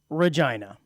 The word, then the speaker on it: Regina: reg now I was always told it was Regina I at least pronounced it Regina Saskatchewan I think is where it's at but apparently it's pronounced Regina had you ever pronounced it Regina Regina or